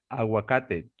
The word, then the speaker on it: aguacate: Okay, you're gonna say, se dice aguacate. Can you try this? Yes. ¿Cómo se dice avocado en español? En Se español, dice aguacate. aguacate. Aguacate, sí. Like water, aguacate.